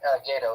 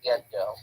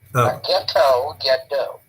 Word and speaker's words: Gedo: No, it's actually not Gato, it's Gedo. Gedo. Okay, thank you. Because Toriano pronounces it Gedo, Ogado, Okada, Mikada, Okada.